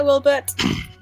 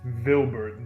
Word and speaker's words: Wilbert: name is Wilbert hi Wilbert stay safe mispronouncing it a bit veric it's vilbert the woun oh my apology